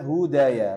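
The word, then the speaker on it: هُدَايَ: ee jangan ini ini ini bukan Alif maksurah ya ini adalah ya murni jadi ini Hudaya bacanya Hudaya ya Hudaya nah Kayak misalnya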